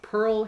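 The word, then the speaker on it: Pyrl: Pearl's first name is spelled differently it's pronounced Pearl but it's p y r l s okay l e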